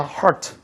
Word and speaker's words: hurt: 발음 좀 굴려서 hurt. 그럼 피자헛은 뭐예요? 피자헛은 뭐야? 그 hurt는요, 이거예요. 그죠? 피자헛의 hurt는 아니다. 피자헛의 hurt는 이거야. 피자헛의 hurt는 이 오두막집이고, 피자 hurt 이런 새끼 있어요. 이렇게 발음 굴리는 애들. 그 뭐가 돼요? 상처받은 피자 뭐 이렇게 되는 거지 않습니까? 그 발음 하나로 틀려지는 거잖아요.